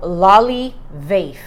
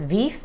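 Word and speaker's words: Lolivefe: So it's called Loli Vafe. That's how you pronounce it. I was calling it Veef.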